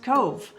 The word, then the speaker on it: Cobh: Today we're in Cove and yes, that's pronounced Cove.